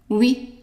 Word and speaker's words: oui: So yes is oui, oui. In French, OUI is pronounced oui. And also the UI is also pronounced oui. So whenever you see OUI, oui.